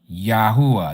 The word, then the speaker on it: Yahuah: A A, this letter here and this letter here make the same sound. Ya U a. Yahuah.